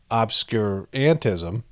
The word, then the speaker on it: obscurantism: Obscurantism, that's how you say it.